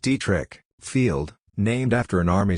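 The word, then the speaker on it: Detrick: found a former National Guard Airbase called detri pronounced dri Field named after an army surgeon who had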